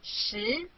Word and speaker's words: 十: This is its syllable 十.